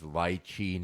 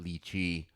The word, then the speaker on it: lychee: And So ladies and gentlemen, it is lychee, not lychee.